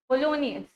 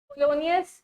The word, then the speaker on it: Polonius: पोलोनियस spelling देखो, POLONIUS, पोलोनियस। पोलोनियस क्या है?